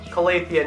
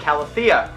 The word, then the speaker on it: Calathea: Khalifa at the back pronounced collegia not calathea and on the other